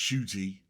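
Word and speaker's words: Ncuti: Muti is pronounced shooty.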